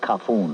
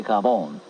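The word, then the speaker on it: cafone: He pronounced it kafoon. I say kavon.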